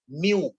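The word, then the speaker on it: μ: Okay, कैसे pronounce करेंगे? म्यू. कैसे करेंगे प्रोनाउंस उसको? Mu.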